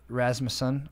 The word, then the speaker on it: Rasmussen: Freaking the squirrel saver, Rasmussen. There right? You go. Did I say it right? Yep. Three syllables.